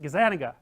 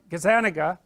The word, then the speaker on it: Gazzaniga: because that Gaza Nick I don't know how to say his name Gaza that's wrong is that Gazzaniga yeah I think that's it anyways he did some